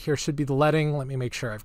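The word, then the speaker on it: leading: the distance between each line of text it's pronounced letting the name comes from when typesetting was done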